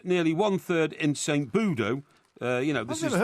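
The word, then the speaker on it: Budeaux: in plymouth and nearly one third in saint budo uh you know you've never heard of this place how do you spell it b-u-d e-a-u-x okay but it's you know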